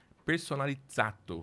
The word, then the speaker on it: Personalizzato: Personalizzato, ele explicou pra gente aqui, né, Lineker? Tem que pronunciar certinho. Do italiano.